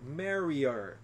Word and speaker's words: marry her: ele acaba acaba Dizendo marri marri ele não pronuncia esse H que tem som de R ele diz só marri I'm gonna Marry her eu vou casar com